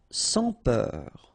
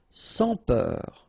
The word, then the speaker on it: sans peur: Sans peur. Okay, pronounce the final R, E-U-R, heure, peur. Sans peur. Don't pronounce the final S here.